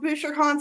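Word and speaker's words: Bouchercon: I pronounce it Bowser Con. Oh, Bowser. We also heard it called Booer Con, so I don't know.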